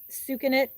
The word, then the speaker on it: Sucanat: If we have it, is sucanat. It's spelled Sucanat, like sugarcane natural sucanat.